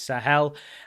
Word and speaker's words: Sahel: It is actually just how I was pronouncing it, which is Sahel.